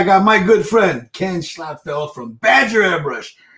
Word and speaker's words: Schlotfeldt: doing great girl yeah she said my name right so that's how you say it well yeah but most be a well yeah a lot of people know it's it's locked felt or nordfeldt or even my wife